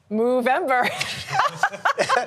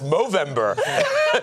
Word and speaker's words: Movember: Movember. No, that's not how you say it, Adriana. I'm told it's Movember.